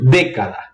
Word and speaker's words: década: A palavra esdrújula é quando a antepenúltima sílaba é a sílaba tônica. Por exemplo, década.